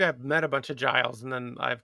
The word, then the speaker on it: Giles: I mean, to be fair, you thought it would be pronounced guiles, which I don't know if that sounds more or less aristocratic. Maybe I've met a bunch of Giles and then I've called